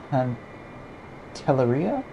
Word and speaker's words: Pantelleria: I believe this is Pantelleria, I think is how it's pronounced, because I think by Italian standards it is double L is still an L.